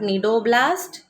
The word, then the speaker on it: cnidoblast: Nidoblast.